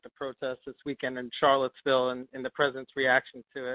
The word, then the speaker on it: Charlottesville: Charlottesville, yeah, in Virginia.